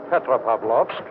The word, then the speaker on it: Petropavlovsk: peninsula above them how do you say the name of this pod Petropavlovsk is not hard to say and that for you Petra Pavlov that is right hey